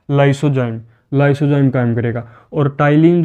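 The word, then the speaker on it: ptyalin: और टाइलिन जो है, पी साइलेंट होता है इसमें, टाइलिन जो है वो क्या करेगा, कार्बोहाइड्रेट, कार्बोहाइड्रेट का पाचन शुरू करेगा।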